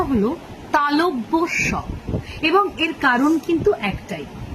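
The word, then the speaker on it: তালব্য শ: তালটাই একদম ছন্নছাড়া হয়ে যায় কেটে যায় আসল উচ্চারণটা হল তালব্য স এবং এর কারণ কিন্তু একটাই ঠিক আগের দিন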